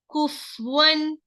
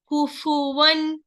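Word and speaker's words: كُفُوًا: In the Suratul Ikhlas, so many people what they do, they read kufwan, they're giving the sakin for the fa. That is wrong. This is kufu. Dhamma is here. So you must say kufu. Okay. Kufuwan.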